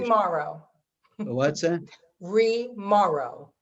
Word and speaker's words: Remauro: Remauro, I know I'm horrible with pronunciation. Remauro. What's that? Remauro. Remauro.